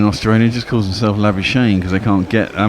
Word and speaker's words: Labuschagne: It's La, as in lager, Booze, as in booze, Kak, as in cack. Shit, I guess. Labu Kak Ni, as in Neesham. Labuschagne.